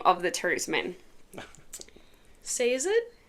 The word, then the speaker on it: Sazed: Sazed? Sazed. Yes. I say Sazed. Oh! Horrible, isn't it? Yeah, well... Sazed is okay. I don't like what you say, I can imagine no, I said my Sazed.